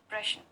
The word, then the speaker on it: प्रश्न: कि अश्लील नहीं रहेगी प्रश्न तो है उसका सही उच्चारण प्रश्न और महत्वका शहीद स्मारक महत्व है Nagin महत्त्व और प्रश्न का सही उच्चारण प्रश्न है ना कि प्रयतन तो हम ऐसे ही